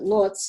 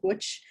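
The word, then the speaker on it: Łódź: art triangle in um which uh poland we pronounce it lootz it's lodz but they pronounce it which and i was really honored to be one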